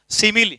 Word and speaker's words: simile: इसका उच्चारण आपको बहुत ध्यान से बोलना है, सिमिली।